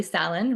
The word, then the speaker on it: Salon: So, Maddie, one of our team members, Maddie Salon, rhymes with Fallon, like Jimmy Fallon, is kind enough to host us in his home this month.